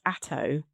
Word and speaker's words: Atthowe: So yeah, we were we were talking earlier about your name um which is written A T H O we E but it's pronounced ATO and yeah this was something else that we were talking about in terms of discovering things.